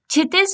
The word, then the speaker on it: क्षितिज: क्षितिज लिखते हैं बट यहाँ पे के जो होता है वो साइलेंट होता है।